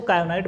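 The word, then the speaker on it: kyanite: जैसे पहला दिया है कायनाइट, कायनाइट या साइलेंट होता है इसको कायनाइट बोलते हैं.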